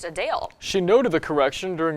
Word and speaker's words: Adele: we've been saying her name wrong while many pronounce it as Adele the singer said it's actually pronounced a Dale she noted the correction during a recent q